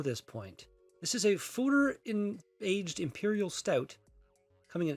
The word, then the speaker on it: Foeder: Apparently it's pronounced Foeder, from what the internet says.